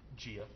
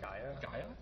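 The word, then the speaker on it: Gaea: And then I will play a Gwenna, Eyes of Gia. That's not how you say it. Oh, it's a goblin it's shaman. Gaia? Yeah. Yeah, it's like Gaia's Grail.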